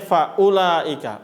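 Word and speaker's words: فأولئك: Makanya bacanya faulaika. U-nya pendek.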